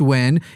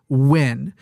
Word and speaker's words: Nguyen: who was like no whoever told you that ngui Nguyen is not pronounced when is completely wrong and here's all and I got like a book about how that actually is when and was super pissed